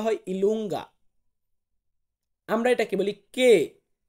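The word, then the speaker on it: Q: পি কিন্তু আবার ঠিকঠাক আছে, পি কে আমরা ইংরেজিতেও বলি পি, আর ইতালিয়ান উচ্চারণ হবে পি।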